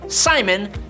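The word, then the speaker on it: Psimon: All of that, but he basically just calls himself Simon, but cool because there's a silent P in front of it, so we all know that he has psychic powers.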